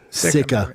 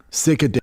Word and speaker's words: sika: Sika. It's a sika. Look how big sika are. Yeah, sika. Sika. Those are what we were looking for in Alaska. Sicker. You can't pronounce sika.